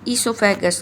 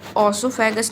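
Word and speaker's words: oesophagus: और ईसोफेगस की ओर, यानी इसमें भी ओसोफेगस नहीं होता है, ईसोफेगस होता है। ईसो, ओके, ओ साइलेंट रहता है।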